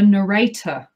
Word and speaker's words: narrator: that two different ways i put the emphasis on the first syllable narrator you put the emphasis on the second syllable i like the way